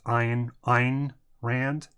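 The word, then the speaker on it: Ayn Rand: miss pronounce this wrong I think it's eine ein Rand it's a a why in are a nd I believe I mean I'll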